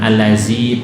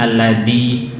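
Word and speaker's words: الذي: Alladzi al-tawasud alladzi dzi dua harokat dzi, ya, bukan zai, bukan allazi, bukan dal alladzi, alladzi sama seperti a'udzu dzi, dua harokat dan jangan idgham ke wisu. Kadang idgham alladzi yuwas, idgham al ringan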